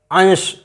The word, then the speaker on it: अंश: अंश, इसीलिए हम अंश बोलते हैं, अंश नहीं बोलते या अंश नहीं बोलते, अंश ही निकलता है हमारे मुख से।